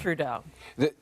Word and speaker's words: Trudeau: And Trudeau.